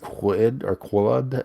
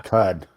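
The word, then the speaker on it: Qud: This is one Caves of Quid that you sent Caves me. of Cud. Yeah. Cud. At least that's how I've heard it pronounced.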